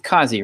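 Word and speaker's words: Qazi: we had this guy how do you say it John it's cozy right yeah cause II from the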